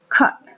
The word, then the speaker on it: cut: ella el sonido dense cuenta Cat y tenemos Cut cortar Cut Ah ese sonido otra vez se